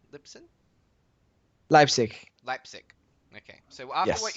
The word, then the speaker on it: Leipzig: of the place I would be terrible at pronouncing European names oh yeah um so was it Lipson Lipson Leipzig Leipzig okay so after what you saw in